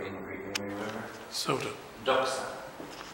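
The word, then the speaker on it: δόξα: Doxa. Doxa, D-O-X-A.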